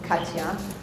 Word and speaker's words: Katja: So I'm Katja. You can just pretend that J is a Y.